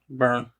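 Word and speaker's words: Byrne: Melissa McCarthy Jude Law and Rose Burn Barn burn burn said it right the first time Samm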